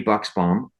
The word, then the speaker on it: Buchsbaum: wanted to say that we're here with Buchsbaum. Is that correctly? I was pronouncing perfect, your name.